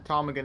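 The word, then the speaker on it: ptarmigan: P time again yeah time again is spelled um with a silent p say Arctic Mountain Bird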